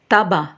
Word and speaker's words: tabac: Le C se prononce dans les mots bac, lac, sac. Et le C ne se prononce pas dans les mots estomac, tabac.